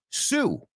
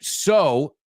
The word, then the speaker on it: sew: Sew rhymes it sounds exact It's a homophone, hablando de homófonos, de sew. Escucha. Sew, así que sew. You're going to sew? Acuérdate de esa frase y lo tienes claro porque nunca he oído nadie pronunciar mal s o.